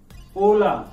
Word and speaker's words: hola: La letra H is the only silent letter in Spanish alphabet. In Spanish alphabet. Okay. So let's have some example of la letra H. Hola. Hola, not hola.